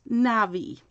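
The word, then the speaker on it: navvy: v v y so it's almost spelled like navy but with two v's so it's pronounced navi it's a noun meaning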